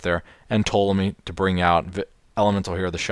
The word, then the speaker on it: Ptolemy: And Constellar Ptolemy, I'm pretty sure his name is pronounced Ptolemy because that was the way you pronounce the scientist. You know, the guy who thought that the universe or the solar system was geocentric. Pretty sure his name was pronounced Ptolemy.